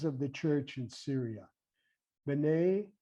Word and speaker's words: B'nai: He talks to us about, and other writers talk to us about these words, these Syriac words, B'nai, B as in boy, N-A-I, and Banat, B-N-A-T, Banat, Kiyama, Kiyama.